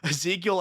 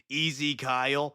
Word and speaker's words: Ezekiel: Also, Ezekiel Abaddon almost sounds like Easy Kyle, especially when people mispronounce it, which sounds like some